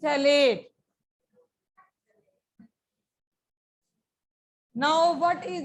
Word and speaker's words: terephthalate: ये पी बेटे साइलेंट होते, इसको पथैलेट नहीं कहते, पीएच को. That is थैलेट.